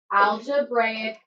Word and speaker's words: algebraic: Algebraic expressions.